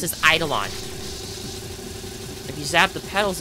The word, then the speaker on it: Eidolon: think it's called and they supposed to be pronounced as eidolon if you zap the petals enough they should